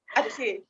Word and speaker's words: Aceh: Yeah, for example, in one of the publication of the reason of Aceh, is that correctly pronounced? Yeah. Aceh.